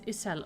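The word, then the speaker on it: Ysayle: Her name is Isel. Okay, Isel. I preferred when she was just called Isart. That was something I could definitely pronounce. Isel. It's like Justola with like a J instead of a Y.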